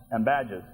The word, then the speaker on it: Ambadges: Is the accent on the second syllable Ambadges? Ambadges.